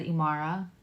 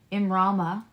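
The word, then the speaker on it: immrama: The Celtic word Imrama. I said it wrong. I said Imara. Nope. Imrama means the journey of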